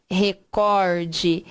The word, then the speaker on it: recorde: E sim, o fulano bateu o recorde. Então, por isso que tem a ver com a intensidade, com a ênfase. Por quê? Porque eu vou dar ênfase na sílaba cor e não ênfase na sílaba ré.